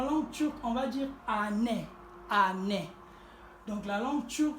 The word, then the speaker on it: anne: lit aussi année donc toutes les lettres doivent être prononcées dans la langue turque nous avons aussi le